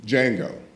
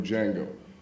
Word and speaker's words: Django: justice or are you Jango if you don't know who Jango is the D is silent which is a line